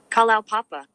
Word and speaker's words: Kalaupapa: Kalaupapa. Kalapapa.